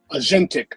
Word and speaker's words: agentic: I hope I pronounced that correctly. Agentic.